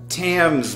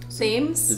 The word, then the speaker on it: Thames: I'm pretty sure it's a hard T.